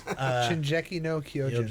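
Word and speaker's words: 進撃の巨人: No, it's Shinjeki no Kyojin.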